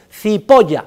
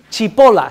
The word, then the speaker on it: Cipolla: Cipolla significa en italiano el señor cebolla, para que ustedes lo sepan, Cipolla se escribe, Cipolla se pronuncia y significa cebolla.